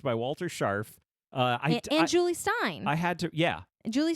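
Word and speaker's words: Jule Styne: he's legit musical theater I think it's Julie Stein not Jules Stein I think is how I've heard it pronounced in the past j-u-l-e yeah I'm confused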